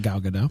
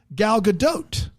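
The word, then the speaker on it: Gal Gadot: And you pronounce the T at the end of it. Galadote.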